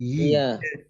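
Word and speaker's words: ياء: ইয়া উচ্চারণ হয় ঠোঁটের, সরি, জিহ্বার মাঝখান থেকে। ইয়া ইয়া, ইয়া মাঝখানটা, ইয়া জিহ্বার মাঝখান উপরের তালুর সাথে চাপ দেয়, একটু ইয়া ঘষা দিয়ে ঘর্ষণ করে ইয়া ইয়াটা আসে।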